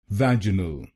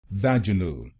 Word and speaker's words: vaginal: then it will become vaginal vanal vaj a nal vaj a n vanal In British pronunciation, we stressed on the second syllable of the word vaginal, but in American pronunciation,